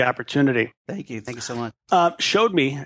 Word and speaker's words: Showd.me: thank you thank someone showed me as we pronounce it I maybe I should